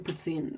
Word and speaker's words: poutine: You can have Italian poutine, which is basically the French fries, the fresh cheese curds, and some sort of pasta sauce on it. Do you pronounce the N? It's Poutine, poutine.